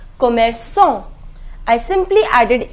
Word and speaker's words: commerçant: Shopkeeper is commerçant. The pronunciation is commerçant.